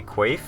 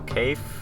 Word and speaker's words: Quaithe: I had an idea that she might be Quaithe, or Kaith, how you want to pronounce it.